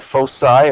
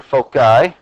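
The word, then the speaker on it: foci: of a conic section find the fosi or folai pronounced both ways that by the way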